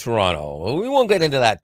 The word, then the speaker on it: Toronto: from Toronto Canada and we have to get to Toronto pronunciation correct Toronto Canada uh you probably think it's Toronto but it's Toronto we won't get into